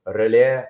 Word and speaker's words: Relais: So relais means the same thing as relay, but in French.